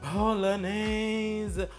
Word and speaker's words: Bolognese: We're gonna start on our bolognese. Bolognese. Say it with me. Bolognese. It's not bolognese, or however it looks like it's pronounced. It's bolognese.